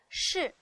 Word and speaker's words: 侍: 这样从容不迫的吃饭，必须有一个人在旁侍候，侍翘舌音，像饭馆